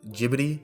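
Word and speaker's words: Ghibli: both from Studio jibli the actual pronunciation is I think jibid but you know from like an English standpoint I'll say I'll just say jibli so from Studio jibli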